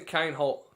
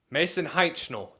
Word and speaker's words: Heitnel: Ma Mason Kinhole, how do you say this kid's last name? Mason Heitnel. Dad gum, why did I get that completely wrong? Uh, enters his second full year as a starter.